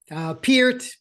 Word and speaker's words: Peart: Peart, but we'll call him Peart.